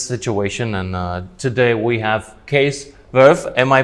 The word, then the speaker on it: Cees Werff: This is NRCC Business Talk in this situation, and today we have Cees Werff. Am I pronouncing it right?